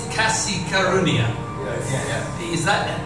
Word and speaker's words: kasih karunia: is this right yes so you say it's kasi karunia yeah is that how do you say it